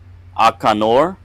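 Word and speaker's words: Akaanur: We have fighter or gladiator, Akanor, spelled A-K-A-A-N-U-R, Akanor.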